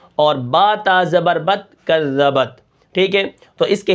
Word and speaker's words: کذبت: پڑھیں گے، ٹھیک ہے۔ کاف زال زبر کذ، زال زبر ز، کذ، با تا زبر بت، کذبت، وقفاً کذبت۔ اب کاف کو ہم